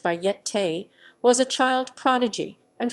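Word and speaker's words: Bayeté: cochran then known under the alias of bait pronounced by yet tay was a child prodigy and formally trained keyboard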